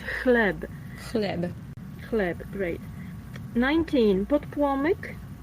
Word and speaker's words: chleb: And I'm not sure if this pronunciation is written here, phonetical is written well, because it's not chleb with K in the beginning, but it's ch. So it's chleb.